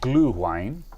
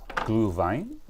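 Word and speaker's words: Glühwein: wine the wine is called glue wine glue Vine don't know if you pronounce it g l u h we i n it's a it's a German spiced wine um it's uh it's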